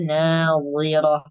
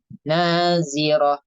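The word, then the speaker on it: ناظرة: Ila rabbiha nadhirah. Wi, dibacanya tebal. Wi, nadhirah. Atau kalau misalnya dibaca tipis itu nazirah, kayak huruf zai. Tetap dibaca tebal.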